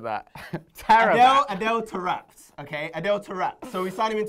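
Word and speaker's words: Adel Taarabt: How do I pronounce it? Adele Tarapt. Tarapt.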